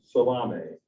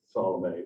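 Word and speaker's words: Salome: and of joseph and salame which i'm told not to pronounce solomon which is what i would ordinarily do in galilee these women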